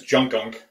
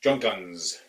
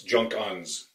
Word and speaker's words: Junkunc: we were pronouncing as junk ankh the surname was spelled je u NK u in C Z + cz in Hungarian is pronounced like the S and it's so Junkins junk guns that's how it would